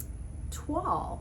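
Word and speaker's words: toile: voil rhymes with royal tuall however is completely different it is pronounced the french way and it is actually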